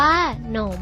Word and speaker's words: ขนม: ต้น ตัว ที่ สอง สาม คำ ว่า ขนม ออก เสียง พยัญชนะ ซ่อน ตัว ที่ 1 ประสม เสียง อะ ซึ่ง อ่าน ว่า ค่ะ ค่ะ และ ออก เสียง พยัญชนะ ต้น ตัว ที่ 2 มี หอ หีบ นำ จึง อ่าน ว่า หนม มี ความ รู้ เรื่อง